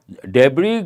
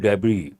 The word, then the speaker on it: debris: can use the word debris the last letter is silent coming to probe investigation